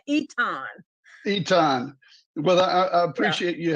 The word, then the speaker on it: Eaton: Looks like Eaton, but it's pronounced, that's that Louisiana, Eaton.